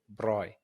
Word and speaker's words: braai: But I remember when I first started talking to Z and Josh, I was just saying braai. But now, whenever I say braai, I make sure I say it correctly and say braai.